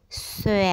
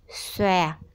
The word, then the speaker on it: xòe: cuối cùng từ xòe khi đọc các em nhớ phát âm tròn môi xòe A xòe bây giờ chúng ta